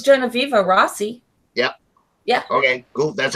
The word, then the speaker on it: Genoveva: is it I wonder is it Genoveva yeah Jenna fever ah see yeah very sweet she's really but I've never heard her speak so I wasn't exactly sure how pronounced her name I think it's Genoveva Rossi yep yeah okay that's how it smelled